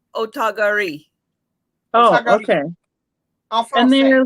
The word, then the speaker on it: Otagiri: How do we pronounce that now, I thought you Trisha? were the one who taught us. Otogari. Otogari. Yeah. Otogari. Oh, goodness. Well, actually, if you Google it, she's more saying like Otogari.